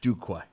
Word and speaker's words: Duque: I got it, but it's Duque. I know how it's D-U. spelled. I understand how it's spelled.